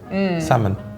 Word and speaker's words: salmon: is so tricky because if I'm reading that salmon right yeah get rid of Theo salmon salmon yeah but then if it's just like s-a-m-o-n I feel like it wouldn't have sort it would look like that yeah right like I don't know the L gives it the way we say it if that makes sense in my head we don't say the L but like some people